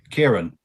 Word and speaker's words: Ciaran: real and just for our viewers can you pronounce your name so that Mark knows how to say it in the future Kieran and your last name there there you